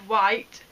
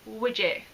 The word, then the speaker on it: wight: 6 years ago, and there's the word white, like it's in the Isle of Wight, and my brain decided that it didn't understand that word and it was going to pronounce it widget.